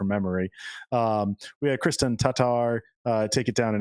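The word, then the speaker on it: Tattar: yeah so it's uh that two A's in Tatar are pronounced differently apparently so oh yeah and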